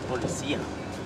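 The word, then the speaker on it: policía: No, it's policia. Yeah, look at all of them. The accent is on the high.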